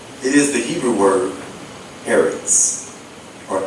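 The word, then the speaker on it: ארץ: It is the Hebrew word eretz, or eretz. It's the Hebrew word aleph resh zadi sofi, pronounced eretz, and spelled in English E-R-E-T-S.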